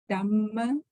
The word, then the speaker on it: Dhamma: See the Dhamma. H. No, when you Dhamma. say Dhamma, then it's like this. And Dhamma Savana. Oh, So we could actually, we have to pronounce this H.